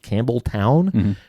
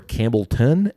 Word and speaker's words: Campbeltown: So, when uh when I was actually in Scotland, I asked a couple people, is it pronounced Campbell Town or Campbellton? And you get both.